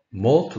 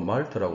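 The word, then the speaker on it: MALT: 몰트 림프종, 한국말로 말트라고 쓰는데 몰트가 더 올바른 발음이죠.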